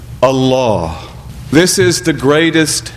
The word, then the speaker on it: Allah: It is given tafkhim, which means emphasis. So that if we were to pronounce the word according to standard modes of Arabic pronunciation, we would say Allah, Allahu. But instead we say Allah, Allahu. And that change in diction is tafkhim, emphasis for the sake of reverence, emphasis to indicate the